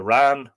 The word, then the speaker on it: wren: The wran, king of all birds. And of course, the wran is just a parochial pronunciation, or a colloquial pronunciation of the wren.